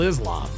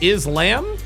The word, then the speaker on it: Islam: I thought it was called Islam. Somebody correct me if I'm wrong. Is it, as far as I know, it's pronounced Islam. Correct. She called it is lamb.